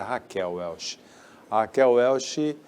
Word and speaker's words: Raquel Welch: conhecida como Raquel né a pronúncia do nome dela em português é Raquel welchi ela brilhou nos anos